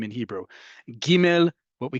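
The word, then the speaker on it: גימל: Giml is one I know very well and you're about to find out why. Giml is pronounced like the American English hard G like in get.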